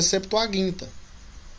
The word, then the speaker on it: septuaginta: pressuposto que é uma palavra grega né a pronúncia correta é septuaginta o tema até então a septuaginta ela é importante também você vai aprimorar seus